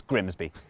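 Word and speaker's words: Grimsby: Looks simple, but what if we told you it was pronounced? We'd be lying. It's Grimby.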